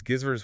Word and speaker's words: Gizzard: all the same page it's gizer with a hard G like gate right not a j Hani